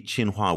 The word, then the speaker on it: Tsinghua: you can find it over on the Carnegie chinua website let me spell that for everybody because it's not obvious that's